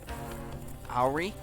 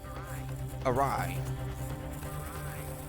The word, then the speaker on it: awry: sneezed and that hurts how do you pronounce that all right owery awry awry okay but do remember the